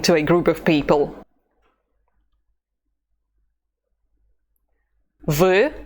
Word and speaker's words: вы: Pay attention to the U sound. It's never E, but U.